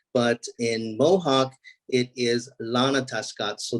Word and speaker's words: Ronatahskats: sounds it looks like Rana test Cuts but in Mohawk it is Lana tuscott so the r is pronounced like an L so it's Lana tuscats and we're kind of